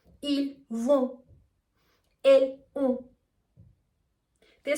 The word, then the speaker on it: vont: For example, we would say ils sont, ils vont, elles ont. The spelling is O-N-T, S-O-N-T, or V-O-N-T. But the T is always silent, and also the sound is kind of nasal.